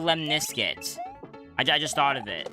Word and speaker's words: lemniscate: Oh, it's called a lemniscate. I just thought of it. A lemniscate. What? A lemniscate. That sounds like you combine the word lemon and biscuit.